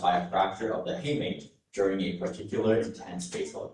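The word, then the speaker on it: hamate: Your word is haymate. Hey mate. Hey mate. Hey mate. May I have an information please? Of course. Heymate is the only pronunciation I have here.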